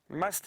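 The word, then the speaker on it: musth: are in a stage known as must which is spelled m s t h and apparently an Indian word must is the the stage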